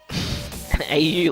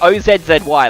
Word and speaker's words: Aussie: Au like autistic. No, you don't say like that. Just say it like Oz Z Y. That's how you say it.